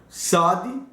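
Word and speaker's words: צדי: Então, SAD, ele tem um som igual quando você fala blitz. Um som de TZ, como se fala Eretz, né?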